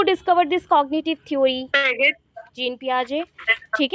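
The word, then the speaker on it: Jean Piaget: Gene पियाजे, ठीक है, gene पियाजे। उनका नाम पाइगेट नहीं है, तो हम लोग बोल देते हैं, बट उनका करेक्ट प्रोनाउंसिएशन होता है जीन पियाजे, ठीक है।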